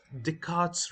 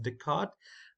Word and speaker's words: Descartes: type where we use Descartes Rule now this is not descarte it's a Descartes uh it's a French name I believe it's pronounced Descartes uh in English and